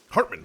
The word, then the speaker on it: Hartman: Hart my my name is Hartman Hartman sorry I knew it was